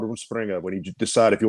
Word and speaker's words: Rumspringa: Rumspringa. Rumspringa. It means it's a Pennsylvania Dutch word.